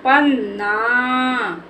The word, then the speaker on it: पन्ना: गलत हो जाएगा बेटा क्योंकि हमें ना को जल्दी से बोल देना है वा के साउंड का उच्चारण नहीं करना है तो ये हमारा